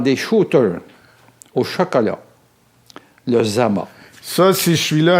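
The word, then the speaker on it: Dzama: Mais ça se prononce Zama, je l'ai appris dernièrement à Madagascar.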